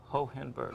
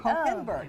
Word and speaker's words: Hohenberg: You pronounce it ho, hen, and a berg. Hohenberg. Hohenberg.